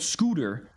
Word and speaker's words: Scyther: We had Scyther, Russian player, who's supposed to be called Scooter. Like Scooter is spelled S-C-Y-T-H-E-R, Scyther, like how you would say it. But it's Scooter.